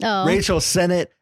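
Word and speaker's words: Rachel Sennott: friends IO and Rachel it's Senate damn it I knew I said it wrong Rachel Senate and Iota Berry so they're they're that's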